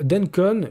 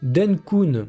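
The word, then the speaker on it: Dencun: la mise à jour denencon qui je le prononce pas forcément bien denkon voilà c'est mieux qui s'est passé sur etherum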